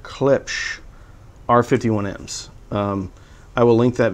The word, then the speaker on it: Klipsch: pair of clip clips i was just told in the comments that i don't pronounce clips correctly so we're giving away a wear away a pair of klipsch r51ms i will link